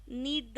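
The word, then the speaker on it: knead: का आटा गूंथ किलोल नीड डफ लार कहते हैं आटा गूंद फटाफट रोटी बनानी है मैं आटा गूंद रही हूं मगर कहती है आटा गूंथने को कहते नीड करना के साइलेंट है नीड पढ़ते रेमिडी मी द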